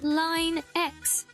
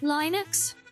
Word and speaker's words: Linux: You never heard anyone say it like Lin X before? Is that how I said it? Oh, Linux. What do you say? Linux. Is that it?